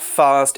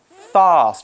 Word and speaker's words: fast: need to know about fast is you can pronounce it in two different ways so in the UK lots of people say fast with this long R sound but if you go